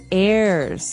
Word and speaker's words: heirs: Pod, and to his heirs. This is our next word. What is an heir? Now, if you notice, the H is silent there. So his heirs.